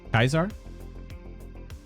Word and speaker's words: Caesar: Kaisar. That's how it's pronounced in New Vegas.